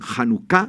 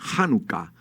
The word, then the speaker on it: hanuka: fiesta de la dedicación hanuka significa dedicación hanuka hay algunas personas que pronuncian hanuka es una forma errada hanuka significa dedicación que